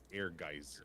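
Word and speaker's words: Aegis: Every time I'd see in the magazine or something, I'm like, "Uh, oh, it says say it like air ges." Okay. Air gist.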